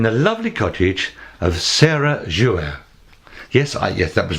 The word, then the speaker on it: Jouault: today I'm in the lovely Cottage of Sarah jouer yes I yes that was right right pronunciation it's like Renault Duo Renault it's French